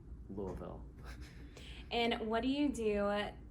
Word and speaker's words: Louisville: So people in Louisville say Louisville, which is almost like one syllable. I can't really say it very well. And then people outside of Louisville say Louisville.